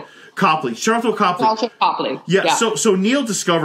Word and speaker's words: Copley: Is that how you pronounce the name? Copley.